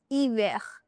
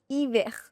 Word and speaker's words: hiver: Homme, hiver. Hotel, homme, hiver. So, you start the pronunciation directly from the wall. You don't start it from the H. H is never pronounced. It is always silent.